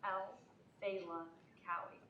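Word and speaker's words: Alfelakawi: It's like Al Fela Cowie. Oh, El Felakawi.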